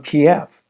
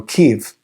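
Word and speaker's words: Kyiv: He moved there from Kiev or Kev uh as it's more properly pronounced.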